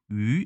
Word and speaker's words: 舁: 중국 에서 는 " 유 " 라고 발음 합니다 .